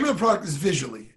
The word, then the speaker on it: Vizully: of the product is visually it's viz you LOI and as visually as how it's pronounced just like something you see with your eyes it is gonna launch